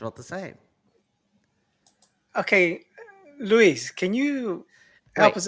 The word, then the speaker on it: Luis: It's an American version of Luis. Is Lewis.